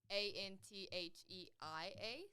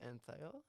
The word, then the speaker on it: Antheia: and it's about like a n t h e i a so it's like my name but with an i is that pronounced ano no it's just pronounced antheia okay um and she's